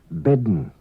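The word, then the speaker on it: ben: day of column ker an Unwritten D is pronounced before n in some M's words bedden woman Leen full getting on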